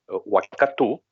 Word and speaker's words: Waikato: I don't know if you've heard, even though he's a Waikato boy, Waikato, as they would say, the right pronunciation, how well he speaks Japanese.